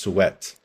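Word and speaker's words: souhaitent: and then this one see the ENT is silent in this one so it's just it's just suet all right so my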